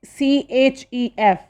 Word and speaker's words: chef: you can eat a snack next word is c-h-e-f its pronunciation is chef means a cook next is